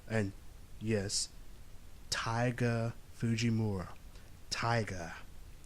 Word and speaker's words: Taiga: He has an English teacher by the name, and yes, Taiga Fujimura. Taiga. Yes, if you're wondering, yes, it sounds like tiger. This is how Japanese pronounce tiger in their language.